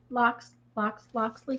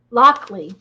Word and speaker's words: Loxley: Loxley? Is that how you pronounce it? Lockley. And there's no S in the middle.